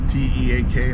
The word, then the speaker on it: TEAC: A Teak amp, T-E-A-K, I think how you pronounce Teak.